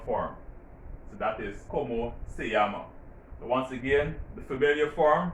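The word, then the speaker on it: llama: remember you see that this word is pronounced yamas this one yama why because in spanish when two l's come together it is pronounced like hawaii in english all right so you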